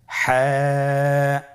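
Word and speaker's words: ح: হা হরফটি কিভাবে উচ্চারিত হবে? হা হরফটি উচ্চারিত হবে কন্ঠনালীর মধ্যখান হতে। গলা চিপে ধরে আপনি উচ্চারণ করুন।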